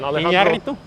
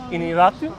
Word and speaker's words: Iñárritu: And then I always have trouble pronouncing the last one. Iñárritu. Iñárritu?